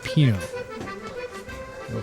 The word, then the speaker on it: Pineau: Pineau.